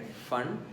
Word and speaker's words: फंड: फंड मतलब actually P फंड है, पी उसमें साइलेंट है।